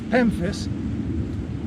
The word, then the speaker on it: pemphis: water's edge this is pemphis rhymes with Memphis but starts with a p and I want to